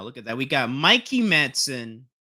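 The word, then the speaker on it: Mikey Madison: We got Mikey Manson. I had double checked how you say her name, but she said Mikey Manson in the Criterion Closet.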